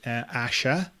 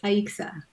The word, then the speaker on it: Aixa: Spain one comes from apparently in Catalonia it's pronounced Asha you probably know all this but okay yeah sometimes it's Aisha something is Asha but in Puerto Rico it's aixa are you excited yeah good okay good well